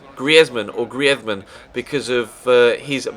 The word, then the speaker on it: Griezmann: And he asked the commentators in Spain to pronounce his name the Spanish way. So that's the reason why I call him Antoine Griezmann or Griezmann rather than Griezmann.